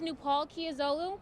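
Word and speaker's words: Nupol Kiazolu: years old with a 3.7 my name is nu Palkia Zulu my first name is spelled nu pol my last name is spelled ki a zo Lu I stepped on FDR at 9:00 a.m.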